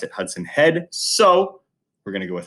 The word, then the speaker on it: Hudson Head: Hudson head I've heard a few people say Hudson he did which doesn't quite make sense when you look at his name when he got drafted on MLB Network they did pronounce it Hudson head so we're gonna go with Hudson head he